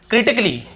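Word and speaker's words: critically: फिर देखिए क्रिटिकली, क्या होता है? क्रिटिकली, यहां पर भी ए का उच्चारण नहीं हो रहा है।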